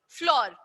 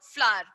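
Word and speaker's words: flour: फ्लावर जैसे बोलते हैं नॉर्मल, हम फ्लोर फ्लोर करते हैं, but exact pronunciation is what, फ्लावर। अब फ्लावर पे मत चले जाइएगा, इट्स कॉल्ड फ्लावर, ओके।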